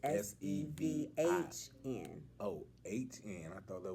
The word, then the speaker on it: Sevhn: 7 steps, but it's spelled like my name. And it's Sevhn. Oh, HN. I thought that was an I. No, that's a Okay. H. So it's Okay. Sevhn.